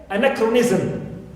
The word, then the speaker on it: anachronism: Also, I have the prefix an, like anachronism. Clear? Anachronism. So here I have the stress on, not on this prefix, but on the original syllable as it's shown. Okay, it is shown here on the board.